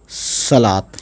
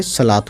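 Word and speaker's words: صلوٰۃ: तो ये वाव साइलेंट है, लेकिन वाव को लिखेंगे ज़रूर। तो इसमें क्या है, ये लाम पे खड़ा ज़बर आ गया, तो ये बन गया सलात, है ना।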